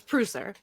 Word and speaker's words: Preusser: have we have presser how you doing hi it's prouser by the way that's okay i sent